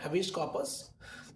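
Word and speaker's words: habeas corpus: इसमें ऐसा है, हैबियस कॉर्पस, हैबियस कॉर्पस कहते हैं इसको हम, इसका सही प्रोनाउंसिएशन है हैबियस कॉर्पस।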